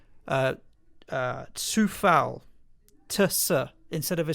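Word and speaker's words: Coufal: czech republic and has told me that it's pronounced uh uh tsufal tusa instead of a c it's a sir so it's not khuffel oh no you're right he denied it yeah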